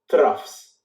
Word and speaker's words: trough: those are called the troughs okay one would be at rough TR Oh ugh even though there is a gh it is pronounced as an F okay so it's not